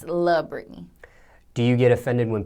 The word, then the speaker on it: La'Britney: mispronounces all the time so many people think my name is la Brittany but it's not I'm not from LA I'm from Detroit and it's love Brittany do you get offended